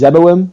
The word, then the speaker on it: Zeboim: on ahead I think the actual pronunciation is zeboim but I always just